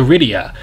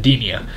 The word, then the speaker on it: Edenia: I can like what they did with the Rydia ah dear sorry I'm pronouncing edenia let's see what else Cinderella actually looks really